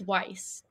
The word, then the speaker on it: Weiss: It's Weiss. Weiss.